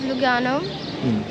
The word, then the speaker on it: Lugano: And there, the sign of Lugano, it's LVGA. It doesn't have any significance. It's just in the Roman, in the Latin, the V, it's pronounced U. And so they put Luga.